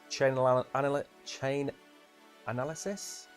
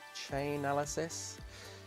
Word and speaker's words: Chainalysis: Chain analysis? That's not how it's pronounced. Chainalysis said Wednesday that cryptocurrency related crime has dropped by 65% this year.